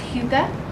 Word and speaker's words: hygge: It's pronounced hygge.